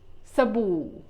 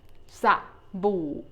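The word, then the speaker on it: สบู่: practice it is called Sabu Sabu you make the first syllable the verse the first syllable SA shortwell is a low tone for the soap for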